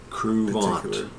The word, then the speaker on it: Kruvant: this is crant let's try crant that's the way we pronounce it crant crant and my name